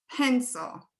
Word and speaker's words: pencil: So here's pencil, pencil. So is this going to be is the first syllable stressed or the second syllable?